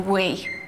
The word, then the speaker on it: Wii: Nintendo's brand new console the Wii and don't start giggling it's spelled wi I I and as you'll be